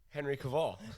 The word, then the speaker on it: Henry Cavill: Henry Cavill.